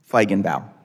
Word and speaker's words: Feigenbaum: Feigenbaum.